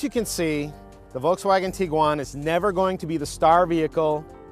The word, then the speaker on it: Tiguan: there's a little confusion over how exactly to pronounce this vehicle's name so I looked it up and it is Tiguan it's not Tiguan it's not taigan and don't try to Google it because you're